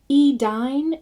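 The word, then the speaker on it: Edain: E-dine is like dine, not dane. So anytime you see AI, think of I. It's almost like you just forget about the A and you just say the I.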